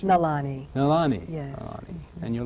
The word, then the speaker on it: Nalani: Pronounce your Nalani.